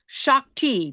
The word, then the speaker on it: Shakti: Her name is pronounced Shockti. Don't you love that? Shockti.